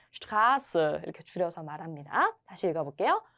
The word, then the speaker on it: Straße: ST로 시작했을 때 슈트의 발음이 돼야 되겠죠. 길이란 뜻입니다. 그래서 요거를 줄여가지고 어떤 도로명을 얘기할 때 Straße 이렇게 줄여서 말합니다.